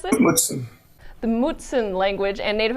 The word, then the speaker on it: Mutsun: Do you think that your study of Mutsun, or how do you pronounce it? Mutsun.